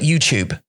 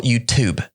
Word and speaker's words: YouTube: right yeah yeah yeah in this pronunciation cube cute so you too they say they say they say like the tube which is actually i'd